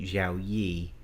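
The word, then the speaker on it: Xiaomi: is their logo but they're actually xiaoi is uh how it's pronounced and everything so this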